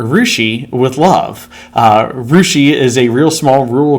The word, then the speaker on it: Russia: citizen science from r rushi with love uh rousi is a real small rural community that I teach at uh it's spelled Russia uh but we pronounce it weird